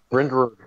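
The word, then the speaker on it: Bryndrwg: spell that out. B-R-W-G. It's B-R-Y-N-D-R-W-G. Sorry. We're all talking at the same time. Brindberg.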